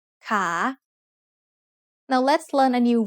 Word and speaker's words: ขา: The initial consonant is ขอไข่ and it has the long vowel สระอา So once again, a high-class consonant with a live syllable ending results in a rising tone. ขา Now let's learn a new vowel pair.